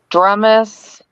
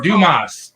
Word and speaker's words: Dumas: wrong it's in Texas is it dramus uh oh the dramus house yeah you Dumas Dumas Dumas I would always call it dumus the dumus place M